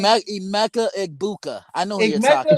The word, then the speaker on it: Egbuka: I can't really pronounce his name. Emeka Igbuka. I know who you're talking Igmeka about. Yeah, Egbuka.